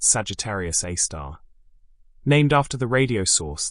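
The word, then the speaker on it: Sagittarius A*: They called it Sagittarius A asterisk, pronounced Sagittarius A star, named after the radio source that had been detected there decades earlier.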